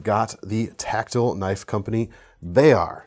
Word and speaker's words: Bexar: the Tactile Knife Company Bexar, spelled Bexar, but don't pronounce it that way or all the Texans in the comments will get angry at me, so don't come at me, bros.